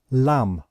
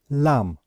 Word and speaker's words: lamb: We pronounce it lamb, lamb. So we know that we do not pronounce the last letter B.